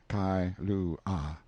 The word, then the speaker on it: Kailua: We landed at Kailua, pronounced Kai-lu-ah, a little collection of native grass houses reposing under tall cocoanut trees, the sleepiest, quietest, Sundayest-looking place you can imagine.